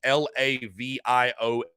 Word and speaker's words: Laviolette: That's how I'm going to pronounce his last name. It's Laviolette. So I'm like, is it LaViolet? I don't think so.